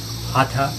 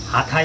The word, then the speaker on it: Hatha: That is Hatha Yoga. We may be saying Hatha Yoga, but real pronunciation is Hatha Yoga. Yoga is a union, Ha and Tha.